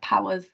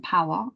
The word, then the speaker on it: POhWER: our name stands for cuz it's spelled quite weirdly and there's kind of like a random H plunked in the middle of our name so power actually stands for people